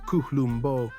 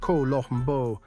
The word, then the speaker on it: Colombo: Colombo. This name is known to the entire world, and the entire world says it wrong. Americans say Colombo, Italians say Colombo, a clean O.